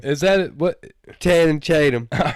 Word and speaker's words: Channing Tatum: How you say his name? Channing Tatum. Is that it? What? Channing Tatum.